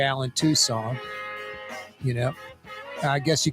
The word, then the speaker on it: Toussaint: I gotta stop that Tucson Tucson like like Tucson Arizona maybe with a little D or t sound at the end slight but no saint Alan Tucson Allen Toussaint Alan Tucson Toussaint does